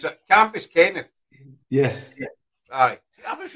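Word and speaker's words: Cambuskenneth: up, like, to the Bell of the Bray, Campus Kent. Camp, I'll say it right now. Campus Kent. Campus Kent. How do you pronounce it? Campus Kenneth.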